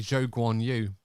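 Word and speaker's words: Zhou Guanyu: right and of course the correct pronunciation of a it should be Joe Guan you from what we've been told that's the correct way to sort of pronounce his name fair enough but uh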